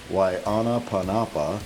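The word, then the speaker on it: Waiʻānapanapa: Why Anapa Panapa State Park. Why Anapa Panapa, pronounced why Anna Panapa means glistening water or shimmering water in Hawaiian.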